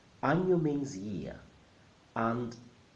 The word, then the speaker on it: año: Año. Año. Año means year, and the letter in the middle is not an N. It's called ñ, and makes that sound ña, ña, ña.